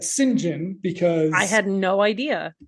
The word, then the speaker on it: St John: full name singen because St John the British pronounce that singen because I had no